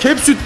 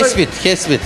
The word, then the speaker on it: Kespit: Burada Kepsut halkını ben hep Kepsut diye telaffuz ediyorum. Burada, Kespit.